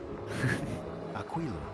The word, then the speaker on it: Aquilo: Aquilo. Yeah. Yeah. There's been debates about how to pronounce the different planets, Aquilo.